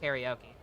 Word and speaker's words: karaoke: It's actually pronounced karaoke.